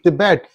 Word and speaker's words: Tibet: The first T in Tibet is soft. It's not ta. It's not ta. It's the, and then the last one is ta.